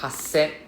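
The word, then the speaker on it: happyaku: Number 4, hasen. Hasen. So we pronounce the first S with the first part, like ha.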